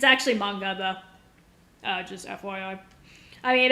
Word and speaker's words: manga: Okay, so most Americans do pronounce it manga. It's actually manga though.